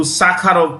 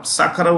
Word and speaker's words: Sakharov: Sakharov was a Russian, Soviet, human rights activist. He was jailed. He was exiled. Andrei Sakharov. Yeah. In fact, the V here is pronounced with an F.